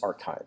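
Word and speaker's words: arXiv: main pre-print posting sites the original one is archive which is spelled counterintuitively a RX IV so this has existed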